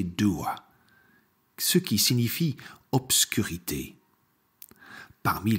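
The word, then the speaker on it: Dubhadh: Enfin, son nom irlandais est prononcé Dua, ce qui signifie obscurité.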